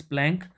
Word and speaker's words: Planck: एक साइंटिस्ट थे जिनका नाम था मैक्स प्लैंक, या कुछ लोग प्लांक भी पढ़ते हैं, जो भी आपको प्रोनाउंसिएशन करनी हो।